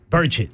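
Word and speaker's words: Burchett: burette or burett burett oh no no burett burett sorry you're killing me man it's burett burett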